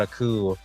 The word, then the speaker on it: coup: warning the town about a coup and Jack being little, and then it goes through Jack's life as he grows up. That's true. Also, Joe, you mispronounced a coup. A coup!